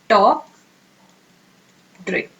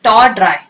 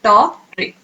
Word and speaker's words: tawdry: टॉप ड्रे। Okay, not एस टॉ ड्राई। Okay, क्या है? टॉप ड्रे।